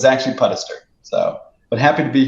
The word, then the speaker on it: Puddester: times so uh usually it says it's it's pronounced where people don't know it but it but it's actually pedester so but happy to be here with you